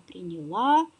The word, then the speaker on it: принял: Она приняла, он принял. Кстати, здесь ударение перетягивается на приставку.